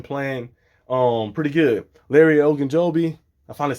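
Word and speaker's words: Ogunjobi: overall he's been playing um pretty good Larry Oak and Joby I finally said it right the first time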